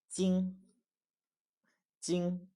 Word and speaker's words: 金: word for metal or gold which is also 金 jīn 金 jīn 金 jīn you see here the